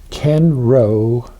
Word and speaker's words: Kenro: Now go to uh Ken Row. That's Ken Row. That's row is spelled R O we Ken Row Gallery.